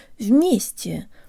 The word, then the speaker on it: вместе: to pronounce the word вместе, or together. In the US, some people say eggs, but others say eggz, and that's the sound we need for the stressed ye.